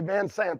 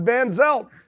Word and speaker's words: Van Zelt: a marketing team uh ted i always pronounce his name wrong yeah van zel i always say van sant that's an old racing buddy but van zelt uh come from uh